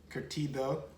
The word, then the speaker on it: curtido: her own sauerkraut and she also makes could curtido i said it right my wife was like